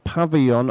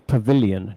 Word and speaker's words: pavilion: Pavon, I think you mean pavilion.